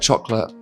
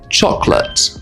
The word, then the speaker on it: chocolate: When you read a word like chocolate, you might think that you need to say chocolate. However, we often drop the middle syllable in a word like this. English is very lazy, so we don't say every sound that we can write. As you're listening to me speak, how many syllables can you hear? How many can you read? So, the first one, chocolate, no, chocolate, like this.